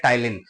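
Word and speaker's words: ptyalin: दूसरा नाम है टाइलिन टाइलिन की स्पेलिंग मैं आपको बता रहा हूं आप सुन लीजिए पी टी वाई ए एल आई एन इसको हम बोलते हैं टाइलिन ठीक है ये सलारी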